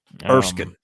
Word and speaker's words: Erskine: Erskine.